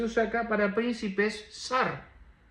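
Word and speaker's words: שַׂר: La palabra en hebreo dice esta palabra se pronuncia como sar príncipe.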